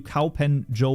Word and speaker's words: Kaupenjoe: Fun fact, a friend called you cowen Joe once. Well, that is basically the way to pronounce my name.